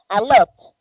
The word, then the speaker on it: a lot: Yo pronuncio la T fuertecita, a lot. But when I want to one, when I am using that word in a sentence, that T will be, for example, like a R, a lot of.